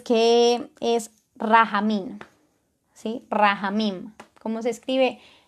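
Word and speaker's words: רחמים: esta característica es que es rafa mina sí rahamin como se escribe r h m m raja min esto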